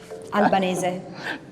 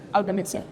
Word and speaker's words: Albanese: It is Francesca Albanese. No. Because the people were just wanting to know how to actually pronounce your name. It's Francesca. Francesca, sorry. No, you did great. Albanese. Albanese.